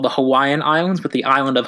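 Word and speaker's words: Hawaiʻi: I've been told is Hawaii so from the W is a V its Hawaii not Hawaii its Hawaii but I'm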